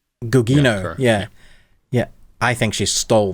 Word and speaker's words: Gugino: But for me, Gucciano, how do you pronounce her name? Gugino, I think. Gugino, yeah.